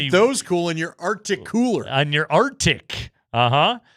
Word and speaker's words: RTIC: Arctic. Arctic. Arctic. Arctic. Arctic. I learned that because I saw a commercial this week that said it. I thought the same thing you did. RT IIC, but it's actually pronounced Arctic.